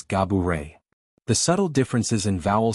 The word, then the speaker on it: Gabourey: While she often goes along with Gabourey for convenience, likening it to the word cabaret, to give people an easy rhyme, she clarified that the true pronunciation is Gah-boo-ray.